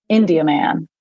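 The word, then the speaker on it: Indiaman: no longer exist and the proper way to say it okay is literally like you're saying India and then you're saying man but it's together India man India okay oh man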